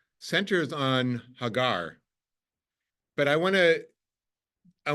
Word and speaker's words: Hagar: right so we say angiz Hagar in Hebrew Hagar but it's it sounds like the word in